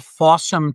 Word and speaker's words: Fawsome: It's called Fawsome TV and that's spelled F A W S O M E. So, it's the word awesome with F at the beginning.